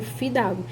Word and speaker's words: fio d'água: Fio d'água quer dizer filho de algo, né? Então, eu não pronuncio filho de água, eu pronuncio fidago.